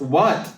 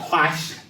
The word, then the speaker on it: Quach: Yes, for those of you that did not know, it's pronounced what, as in what he can dance and what he can sing.